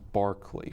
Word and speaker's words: Berkeley: to note is that the English are very peculiar in their pronunciation of words and so when issues of the name have occurred to me I read Berkeley so it's pronounced Berkeley first yes okay so